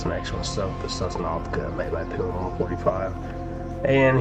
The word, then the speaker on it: Sosnovka: Actually, I think I was playing Sosnovka.